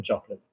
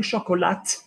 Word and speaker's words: chocolat: Ryan its du Chocolat listen Chocolat if you're saying shock or lat you're putting an e on the end it's not that in French and Chocolat like the